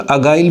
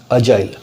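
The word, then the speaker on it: agile: इसको बहुत जन देखिए प्रोनाउंसिएशन में अगाइल बोल देते हैं, तो अगाइल नहीं है, जी है तो जाइल है, अजाइल, राइट।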